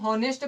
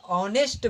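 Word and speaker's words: honest: तो क्या इसको हम ऑनेस्ट पढ़ने हैं क्या कई लोग इसको ऑनेस्ट पढ़ने हैं बट ये सही तरीका नहीं होता है इसमें एस साइलेंट होता है इसको आपको क्या बोलना पड़ेगा ऑनेस्ट बोलना पड़ेगा जो की ईमानदार होता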